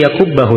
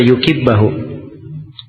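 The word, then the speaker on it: يَكُبَّهُ: Nah, sini yakubbahu ya bacanya, bukan dibaca yukibbahu.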